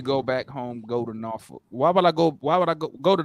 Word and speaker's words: Norfolk: No, that's how we say it. We don't say Norfolk. We say Norfolk.